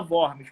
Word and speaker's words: Worms: não sabe né ah o borne se escreve se escreve com w ó rms mas o que tu fala borges por causa da língua alemã tudo bem e o